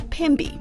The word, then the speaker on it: Pemby: When was the last time you got to Pemberton, or Pemby as the locals say?